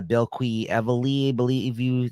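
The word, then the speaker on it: Bilquis Evely: This is the last issue of this 8-issue miniseries, written by Tom King, art by Bill Quee Evely, that's how you say her name.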